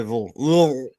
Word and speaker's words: Louisville: It's one syllable. You say Lou and you just say Louisville.